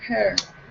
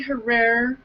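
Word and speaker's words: Herer: She sat with right next to Jack Hare. Jack Hare. Is that how you say his name? Is Hare. Hare. I hear people call it rhymes with tear. Right. Jack I hear Hare. people say Herrera.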